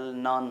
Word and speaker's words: نان: بدل دیا جاتا ہے، جس کی سیدھی سی مثال نان ہے۔ نان یعنی روٹی، مگر جب اس کو بولتے ہیں تو نون کہتے ہیں، تلفظ اور ادائیگی کے وقت اسے نون کہا جاتا ہے۔ یا اس طریقے کی